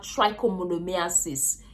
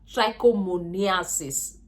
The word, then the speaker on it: trichomoniasis: B we have genital warts and we have trichomonomiasis yeah trichomoniasis am I pronouncing this to his way yes just know